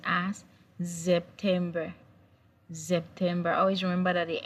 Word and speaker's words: September: The S in German language is pronounced as Z. So in English, it has same spelling. September in English, but in German, it's pronounced as September.